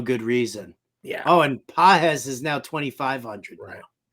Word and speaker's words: Pages: And if Pages, I guess, is back in the lineup, you could give him a look at 25. Oh yeah. Pages. It's Pajes. Pajes is how you pronounce it.